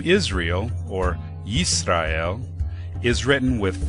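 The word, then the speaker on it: ישראל: In the Aleppo Codex, vowel pointings in the form of dots and dashes are placed above and below each letter to represent the vowel sounds, providing the pronunciation Yisrael.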